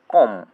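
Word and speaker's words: comb: সি ও এম বি বি এর উচ্চারণ হবে না এখানে। উচ্চারণ হবে কম এল এম বি ল্যাম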